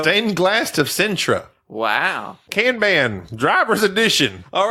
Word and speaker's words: Kanban: You often mispronounce words. It's Kanban.